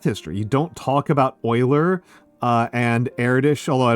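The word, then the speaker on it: Euler: Uh the the names I said were Oiler, Erdish, Newton. Uh so Oilers spelled like this.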